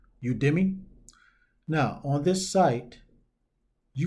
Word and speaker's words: Udemy: of the site is you to me oh I think it's pronounced udemy now on this site